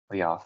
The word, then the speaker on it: Leof: Is his first name Leof? Leof. Yes, that's how you pronounce it.